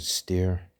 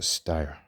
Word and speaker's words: Steyr: the screen that said stare it's actually I pronounce a stire I call it steyer he says steer and he said the